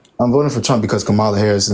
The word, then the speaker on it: Kamala Harris: Her name is pronounced Kamala Harris.